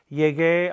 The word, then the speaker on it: llegué: The important point to remember is that the yo form in the preterite of a GAR verb is going to end in gay. Why? We must maintain the integrity of the hard G sound all through all 5 conjugations of the verb.